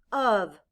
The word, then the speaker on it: of: out loud o f in this word the letter o stands for the short u sound ah and the letter f stands for the v sound blend with me uh